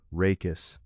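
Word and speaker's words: rachis: For calm consistency, we can pronounce it rakus.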